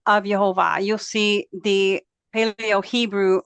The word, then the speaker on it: Yehovah: there on the right his name is spelled yod with a Y sound he with an H sound VAV with the V sound and you can compare